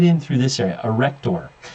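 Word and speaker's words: arrector: in through this area a rector it's not erector it's a rector it's commonly mispronounced sebaceous glands right here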